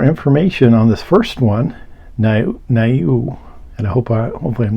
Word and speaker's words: Niue: Niue, N-I-U-E, never heard of that one. Turns out it was an island nation. So let's get a little more information on this first one, Niue, and hopefully I'm not mispronouncing that.